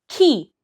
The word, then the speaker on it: chi: It's key. Think of key as the key that you need to unlock who someone is, because that's what key means.